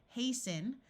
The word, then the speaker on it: hasten: the T sound disappears hasten the same thing happens here the root is haste and we add the n and the T sound disappears and fasten two other